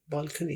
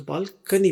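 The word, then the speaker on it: balcony: छज्जा ये देखिए बालकनी अब इसको कोनी नहीं पढ़ना बाज लोग ओ को ओ ही पढ़ते हैं अंग्रेजों के साथ रहकर सीखा है कि ये ओ को आ प्रोनाउंस करते हैं तो बालकनी बोलते हैं बालकोनी कोई नहीं बोलता यहां पर तो बालकनी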